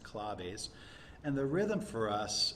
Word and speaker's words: claves: You may think it's claves, but it's pronounced claves.